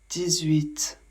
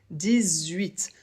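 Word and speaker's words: dix-huit: 18. Ici, le 10 doit être prononcé avec un peu comme un Z. 18.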